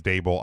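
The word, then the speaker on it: Daboll: I know his name is Brian Dable, but I like to call him DeBull.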